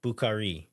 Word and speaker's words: Bukari: And one of them is being that typically in a three-cllable word, you put an accent on the middle syllable. And so the anglicized version, I always put a little bit of an accent on that middle syllable. But the actual correct way, I think, is giving kind of equal weight to all three. Bukari.